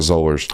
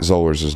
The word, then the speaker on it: Zollers: the school and Matt Zollers' name. Which Coach. I just mispronounced again. Zollers. Zollers. Think Frederick Zoller from correct. No, he said think baller. Think baller.